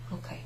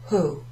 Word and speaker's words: ho: You don't say ho, hai, ha. No. O, hai, ha, abbiamo, avete, hanno. It's as if the H isn't there.